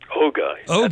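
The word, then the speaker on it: Ohga: We definitely want to talk about Paws of Fury, The Legend of Hank, because you provide the voice for, is it pronounced Oga? Oga, that's correct.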